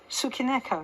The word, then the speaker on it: Tsukineko: And you have pronounced it perfectly. Tsukineko.